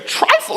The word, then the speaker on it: trifle: a new word today trifle is like rifle how you spell that rifle with a t in the front trife and able to